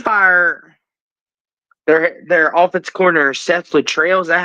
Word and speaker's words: Littrell: Like, he's doing the best for what he can, but they did fire their offensive coordinator, Seth Littrell. Is that how you say it, Jackson? Yep, Seth Littrell.